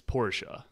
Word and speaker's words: Porsche: just keep um por people want us to pronounce it properly sorry Porsche Porsche yeah Porsche but she feel like people say Porsche yeah for sure the the the actual pronunciation is Porsche okay isn't there a